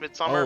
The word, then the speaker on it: Midsomer: Midsummer Murders? Yeah. It's Midsomer. It's pronounced Midsummer.